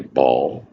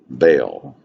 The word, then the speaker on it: Baal: Some say Baal. Baal generally is how people pronounce it.